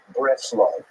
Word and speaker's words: Breslov: be confused with Bratislava, as usually pronounced in Yiddish as Breslov.